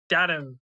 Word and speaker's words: Damnum: I think it's Damnum, which sounds like denim now that I say it.